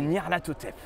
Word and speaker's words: Nyarlathotep: Okay, and the Y is pronounced I.